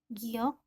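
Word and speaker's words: 기역: Maka dibacanya seperti membaca G atau K diantaranya ya. Nah, ini saya pilih kata-kata padanannya, huruf depannya dan huruf belakangnya sebisa mungkin sama dengan namanya. Huruf ini depannya giok, belakangnya K.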